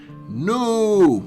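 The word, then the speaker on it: Nnooo: considered an action adventure published by no and yes folks that is how you pronounce it and developed by analgesic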